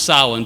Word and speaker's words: Samhain: a 48 hour festival called the vigil of sahlan now it's pronounced solemn but it's spelled s a.m. h AI n so if you look it up it's looks